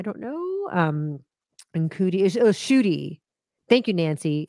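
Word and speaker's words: Ncuti: It's pronounced Chudy, I'm being told. I apologize if I said it wrong. I don't know. And Cootie is Shooty. Thank you, Nancy. It's pronounced Shooty.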